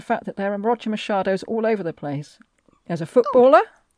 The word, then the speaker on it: Machado: And I'm reliably informed by Google Translate that it is pronounced Machado, and not Machado, not Machado, Machado, okay. Any of those. Machado.